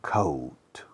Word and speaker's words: coat: La OA, el sonido fonético es OU. Por ejemplo, abrigo. Abrigo se escribe coat. Se pronuncia coat. Como si fuera OU, no OA. Coat.